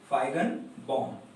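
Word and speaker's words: Feigenbaum: Pronunciation ध्यान रखें इसका, फाइगनबॉम।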